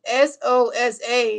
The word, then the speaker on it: Sosa: It's Sosa. That's how you spell last name. It's S O S A. It's not dope DNA. It's Sosa, not SO. That's you saying so like a drink.